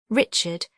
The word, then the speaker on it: Richard: Richard, here accented on the final syllable.